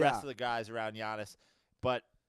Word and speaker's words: Giannis: I don't say his name right, Giannis, or how do you Giannis? Yeah, Giannis.